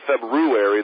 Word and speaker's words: February: actually spelled see I I've always pronounced the February thinking the first R was silent but I've heard more and more people pronounce it February the way it spelled